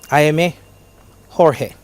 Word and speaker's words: Jaime Jorge: Pronounce the Spanish name of this Cuban violinist, spelt Jaimegorge. George, yes. Jaimegorge. Jaime Jorge.